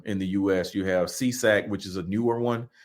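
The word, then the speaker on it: SESAC: three of them in the US you have seesac which is a newer one that's a SE CAC and they just pronounce it c s sa AC we we just pronounce it seesac I don't know what the acronyms mean um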